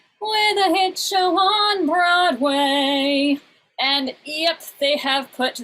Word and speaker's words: Broadway: But generally when you pronounce Broadway, it is Broadway. You put the stress on the first syllable.